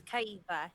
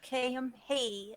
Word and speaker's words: Kiva: It's Kiva, not Kim. It's Kiva.